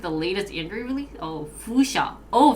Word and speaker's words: Fuchsia: applications for android ios linux mac windows google fusia how do you pronounce this um and the web from the single code base only because i read the latest injury release oh foosha oh fuchsia what is google review show um first subscribed